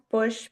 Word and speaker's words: Bosch: And so they kind of moved me over to Bosch's room. Am I saying that right? It's pronounced Bush because my family's Dutch and not German, but yeah, Okay.